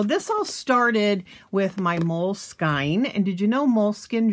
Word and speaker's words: Moleskine: the journals so this all started with my mole skin and did you know moleskine journal is pronounced moleskine and so i just thought i would take